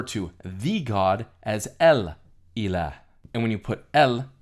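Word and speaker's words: إله: The word for God or something that is worshipped in Arabic is pronounced ilah.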